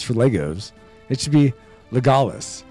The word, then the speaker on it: Legolas: It should be Legolas, not Legolas, but whatever.